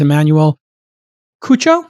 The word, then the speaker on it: Emanuel Cuccio: This kid is Emanuel Cuccio. Am I pronouncing your name correct, Emanuel? Yeah.